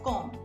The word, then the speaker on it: comb: I get dressed I comb my hair it's not com it's comb I comb my hair the B is silent in com I go